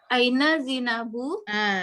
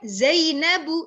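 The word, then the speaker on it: زينب: Aina Zinabu. Bacanya Zainabu, Zainab.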